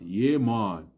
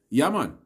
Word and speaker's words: yah man: It's not yeah man, right? It's yaman, afime, right? That is how you say it, the correct way.